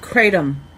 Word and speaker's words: kratom: It's like kratom, kratom. Kratom. Like Tatum, Kratom.